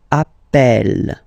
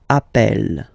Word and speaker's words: appelle: You tend to pronounce it like E, E, really open. That's the reason why you pronounce it appel, appel, okay?